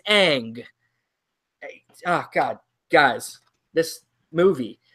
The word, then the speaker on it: Aang: It is not Ung, it is Aang.